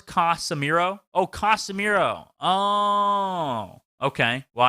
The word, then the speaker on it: Casemiro: about him and how, it's 3 syllables, Casemiro.